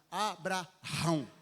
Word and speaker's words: Abraão: O correto é você pronunciar Abraão.